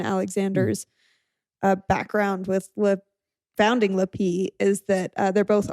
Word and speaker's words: Lapee: lappy yeah la pee la pee oh sorry i didn't pronounce it right yeah the p like the p the accent is on the p yeah kinda like zulu zulu right yeah they're awesome i